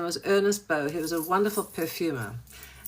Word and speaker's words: Ernest Beaux: You don't pronounce the x in French. His name was Ernest Beaux.